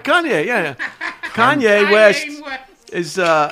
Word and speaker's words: Kanye: you say it yeah you're pronouncing it not correctly well that's why I miss Kanye all right Kanye yeah Kanye West as